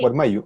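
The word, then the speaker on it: Warmayllu: ¿Se pronuncia así, Lorena? Igual Mayu, sí. Guarmayu, ok, gracias.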